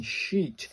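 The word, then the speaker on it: し: Pronounced like the she in sheet.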